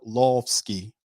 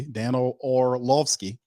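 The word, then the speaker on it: Dan Orlovsky: Dan of lordsky or lofsky or lofsky danolovsky people was kind of clowning me how I pronounced the man's name is oralovsky okay Daniel orlovsky all right so Dan of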